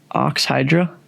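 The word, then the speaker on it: Oxhydra: No, it's Hydra. No, he's right. Yeah, That's Hydra. first. It's a brand name, not Hydro.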